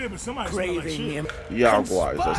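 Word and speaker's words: Yaoguai: Yagwai, that's how you say it.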